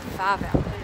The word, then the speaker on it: Wawel: It's spelled Wawel, but it's actually called Wawel.